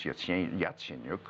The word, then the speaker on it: Yatsenyuk: trouble to you know learn how to pronounce his whole name it's Yatsenyuk okay and he's really